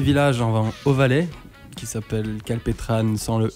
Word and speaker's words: Kalpetrane: et on s'est dit vu qu'on aime bien la prononciation à la française on rajoute le E puis en le prenonce scalptran comment ça s'est formé votre groupe calpétran c'est une bande d'amis